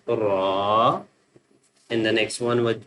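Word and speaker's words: ر: This one because this one is the bold letter, so we will pronounce with full mouth ra.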